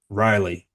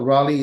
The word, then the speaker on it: Raleigh: I've been out there towards uh Riley. Is that how you pronounce it? Riley. Rale Raleigh is the is the biggest city.